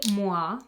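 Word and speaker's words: Moi: This is 140 mwa. It's spelled M OI, so it's like the French MUA.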